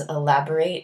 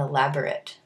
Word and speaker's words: elaborate: I'll talk about is elaborate and elaborate so there are two words they're spelled the same and they're related but the difference in pronunciation means like the difference in their meaning so elaborate is a